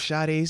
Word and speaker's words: Sade: want a lock of Sade's hair shout out shout out man you know that is right no the singer no that's how it's pronounced Sade yeah because I'm seeing